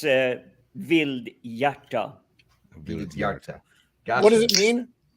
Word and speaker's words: Vildhjarta: That name was really tricky to pronounce properly. It's Vildhjarta.